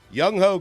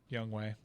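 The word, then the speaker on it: Younghoe: Young Ho Koo has been getting it done for years down there in Atlanta. It's not how you pronounce it. How do you pronounce it? Young Way.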